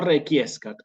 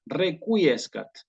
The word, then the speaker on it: requiescat: No requiescat, requiescat. ¿Sí? Entonces, estos bloques de palabras como quique, requiem, requiescat, permiten trabajar, ¿sí? Este tema de la Q con la U. Hay que pronunciarlas. ¿Sí? Requiem, quique, requiescat.